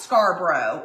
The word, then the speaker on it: Scarborough: Oh, it's pronounced Scarborough. I bet people always say it wrong though, huh?